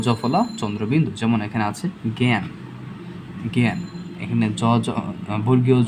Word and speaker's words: জ্ঞান: যদি এটা শব্দের প্রথমে থাকে, শব্দের প্রথমে থাকলে সেটাকে আমরা রূপান্তর করে লিখব গ জফলা চন্দ্রবিন্দু, গ জফলা চন্দ্রবিন্দু। যেমন এখানে আছে জ্ঞান, জ্ঞান।